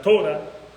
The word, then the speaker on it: Torá: es conocido como la torá decimos la torá Ellos dicen la tora es la forma como como lo pronuncian la tora se refieren